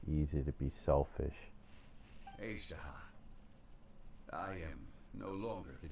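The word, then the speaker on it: Azhdaha: It's pronounced Ajdaha, not Akasha.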